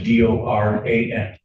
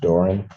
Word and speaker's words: Doran: Spelling on the last name is D O R A N. And it's pronounced Doran.